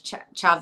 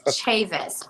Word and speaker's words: Chavis: So, I'm bilingual, so I see the Chavez, and I want to pronounce it. Like Spanish, Chaves. Yeah. And you said it's Chavis, Cortt Chavis.